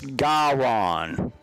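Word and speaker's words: Gahron: get a touchdown from the quarterback Mr guyron or garan I'll get the pronunciation down I'm double checking it is g-a-h-r-o-n so it's gawron yes he scored the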